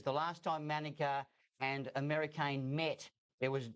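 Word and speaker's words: Americain: American, as we've been told it is correctly pronounced, a son of Dinah Former, a French galloper.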